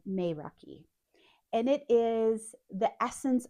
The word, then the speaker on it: Meraki: And the word is pronounced Meiraki. It's spelled Meraki and said Meiraki.